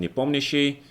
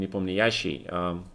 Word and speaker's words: Nepomniachtchi: Of course, in Russian we just call him Nepomniachtchi, with the accent on the second vowel. Almost like in French, right? But for some reason a lot of people call him Nepomniachtchi, and that's kind of strange to me.